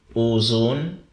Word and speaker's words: OHXONE: there all right so my name is ozone previously called zone so i just add the o in front of it uh o h and